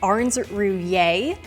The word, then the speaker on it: Ahrens Rouillier: Arn Ruier.